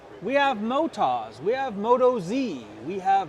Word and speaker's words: Motoz: We have Motas, we have Moto Z, we have Motos. What is the actual name of your tire? The actual name, it's an Australian company. Yes, sir. They pronounce it Motas. Motas.